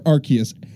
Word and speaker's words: Arceus: that's Arceus or Arceus technically it's Arceus because of the japanese but that's another topic for another like day or later today I don't know we might get to we can debate over pronunciation all day well in English it's either RCS or Arceus I always thought it was our say us because dick because deity Deus I don't think they